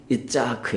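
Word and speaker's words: יצחק: 뭘까요 이삭 이에요 그 이상의 원래 11 20 발음은 있자 크 에요 그리고 이 있자 그의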